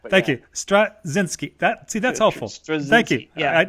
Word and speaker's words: Straczynski: Well, yeah, the C is silent, I believe. Thank you, Straczynski.